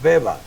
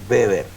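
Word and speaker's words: Weber: la academia se diría webber pero nosotros no nos pronunciamos ni en alemán ni en en español sino que le decimos beber como un poco rebelde los cielos ok la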